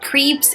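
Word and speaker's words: crêpe: It's not crepes, it's not crepes, it's crepe.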